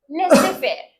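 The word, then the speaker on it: laissez-faire: द बिनेस is free that is called as ले से fear ले से fair not Lay's fair okay the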